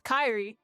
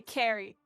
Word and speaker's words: Kyrie: get my name wrong my name's Kyrie but people say Carrie and I just made